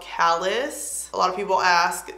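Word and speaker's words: Callas: It's called Callus. A lot of people ask, C-A-L-L-A-S. I think that's how you say it, like Dallas, except with the C.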